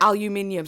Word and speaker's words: aluminium: my pronunciation of aluminium that is how we say it in the UK you guys in the u.s. call it aluminium but over here we call it aluminium so don't come for